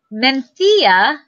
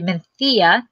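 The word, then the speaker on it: Mencía: So Mencia, so I actually say it's Mencia, it's actually Mencia. That's how it's pronounced?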